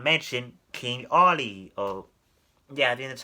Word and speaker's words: Olly: on but however they did not mention King Ollie oh yeah that's how you say his name